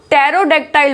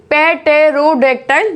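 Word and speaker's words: pterodactyl: अब ये है, इसमें पी साइलेंट है, पी की आवाज आएगी नहीं, तो टेरोडेक्टाइल बोलेंगे। क्या बोलेंगे? टेरोडेक्टाइल। ठीक है, पेटेरोडेक्टाइल नहीं बोला जाएगा।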